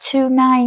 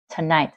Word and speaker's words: tonight: Không phải là tonight nha, trọng âm ở night, tonight. Giống như kiểu today, trọng âm ở day.